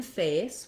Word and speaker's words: face: So in face, we have the diphthong A, which typically we spell with AY, AI, like in rain, or an A plus an E, like in face. So it does follow the rules for spelling, where when we put a silent E at the end of the word, it's called, it makes the letter say its name.